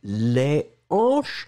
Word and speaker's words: hanches: rester là et donc si c'est au pluriel les hanches vous ne ferez pas de liaison ça c'est la particularité du h aspiré troisième mot le troisième